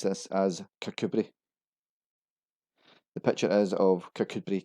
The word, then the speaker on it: Kirkcudbright: Its name suggests Kirkcudbright is an obvious pronunciation. Locals actually pronounce this as Kirkcudbright.